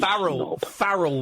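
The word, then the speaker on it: Pharrell: You mean Farrell Williams? Oh, thank you. Oh, you Frell Williams. Say it right now.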